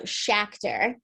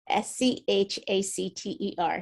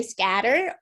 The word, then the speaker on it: Schacter: Tell us on camera how we pronounce your name. It's okay. It's really uncommon. It's commonly mispronounced. So Schacter, Schacter, Schacter. So a lot of people say scatter, or they say well, I didn't do that one.